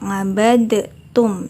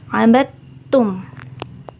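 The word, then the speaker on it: عَبَدْتُمْ: Pada lafal ngabattum, dalnya tidak terbaca. Jadi bukan ngabadtum, tapi dalnya langsung lebur ke ta. Karena di situ ada tasydid. Abattum.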